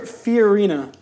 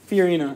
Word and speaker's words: Fiorina: Fiorina. Fiorina.